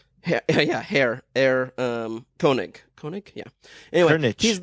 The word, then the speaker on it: Koenig: Koenig.